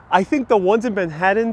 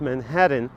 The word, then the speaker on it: Manhattan: the way you pronounce manhattan i was pronouncing it with the t's and now i know the right way to pronounce damn right damn right don't pronounce those t's in manhattan here side sign the